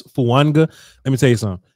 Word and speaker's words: Fuaga: Alex, the Eagles fan in the chat box, just said that Talis Fuaga's name is pronounced as if there was a silent N in it. So there's so it's Fuanga.